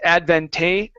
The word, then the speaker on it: advantageous: advantageous advantageous okay now the E EO u s here at the end we don't say advantageous it's adventus it's one vowel sound there even though there's